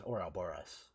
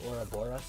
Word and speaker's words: Ouroboros: I just say it as Ouroboros. I say it like bus instead of bis or bass.